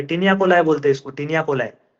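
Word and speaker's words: taenia coli: continuous bands called as टिनियाकोलाई टेनियाकोली जो भी है इसका प्रोनाउंसिएशन टिनिया कोलाई अब देखो ये तुमको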